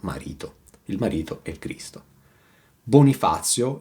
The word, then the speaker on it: Bonifazio: "Bonifazio" rhymes with "sazio-sated" and "strazio-distress", but let's move on!